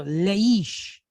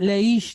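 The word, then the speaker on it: לְאִישׁ: Sheen behind it ish all right so leish all right this is not laish that you take your dog for a walk with all right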